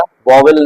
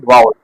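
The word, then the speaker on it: vowel: important बात याद रखिएगा वोल नहीं होता है लोग जनरली गलत प्रोनाउंस करते हैं वोल नहीं है असल शब्द है वाउल इंग्लिश में पांच वावल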